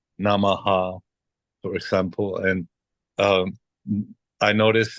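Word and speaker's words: नमः: But from the most respected Sanskrit scholars that I've met, they say that it should be just silence. Like Namah, like that, Namah. You Yeah. know, but I think especially in North India, it's a common practice to echo it, like a short echo. So Namah, Namaha. But like not like Namaha, but like right. you know, and so you echo the vowel at the end wherever it comes.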